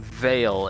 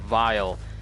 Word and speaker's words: Clavicus Vile: the Mask of Clavicus Vile, apparently Clavicus Vile himself commented on my video, and he was correcting me on how I kept calling him Vale instead of Vile, and how I called